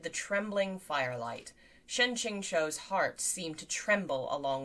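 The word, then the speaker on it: Qingqiu: what's the difference uh ching is closer to chinchou so the last syllable is more like a o than a u okay ching cho shen ching cho okay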